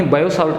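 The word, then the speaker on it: Biot–Savart: ठीक है, अपने बायो-सावर्ट का नियम आपको बियो-सावर्ट के नियम से ये लिखा हुआ मिलेगा जब आप लोग आपकी बुक में देखोगे, क्योंकि स्पेलिंग जो अपने लिखते हैं तो BIO इसकी लिखते हैं। ठीक है, जैसे अपने इसे बियो-सावर्ट या बायो-सावर्ट का नियम कहते हैं, सामान्यतः अपने इसे बायो-सावर्ट के नियम के नाम से जानते हैं।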